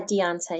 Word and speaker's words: Deonta: Is it Deonta? Yes. Yeah, Deonta. Yeah, you said it right.